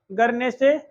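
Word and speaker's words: Guernsey: एक का नाम है गरनेसे, दूसरा का नाम है जर्से।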